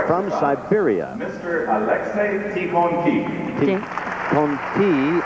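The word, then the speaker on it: Tikhonkikh: Tikhonki is the way he pronounces his name.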